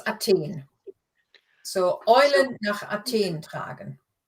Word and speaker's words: Athen: Yeah, except in German it's Athen.